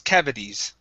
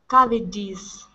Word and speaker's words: cavities: next up is cavities so let's switch this T to a flap T sound cavi cavities cavities M good one more